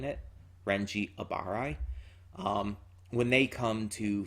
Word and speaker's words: Abarai: goatee 13 captain biaky akuchi and lieutenant renji abbaharai i butchered that when i was saying it renji abarai um when they come to fetch rookia ichigo